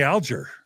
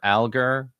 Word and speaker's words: Alger: um, where should we begin talking about Fanny Alger? Well, I think we have to begin with pronunciation because all of my Mormon history career, I've been uncertain as to whether it's alger or algar.